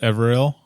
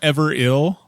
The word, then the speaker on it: Everill: You know, so it's spelled ever ill, like ever ill, like he's ever ill, but it's Everill.